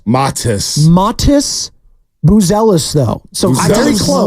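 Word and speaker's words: Matas: the Chicago Bowl this is an easy one Motas buellis oh I like that close that was close it's actually and this one is a little tricky it's actually pronounced his first name matis matis matis buellis though so very close got the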